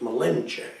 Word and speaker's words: Malinche: called cortes malinche melinda you always see it malinson they pronounced it malenche and that means master